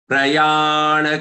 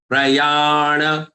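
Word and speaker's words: प्रयाण: Prayana kale picha. Prayana. Don't say prayan. Prayana kale pi.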